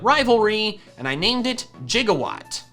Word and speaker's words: Gigawatt: Thankfully it had Intimidate and not Rivalry, and I named it Gigawatt. Spelled like Gigawatt, but pronounced like how Doc Brown says it in Back to the Future.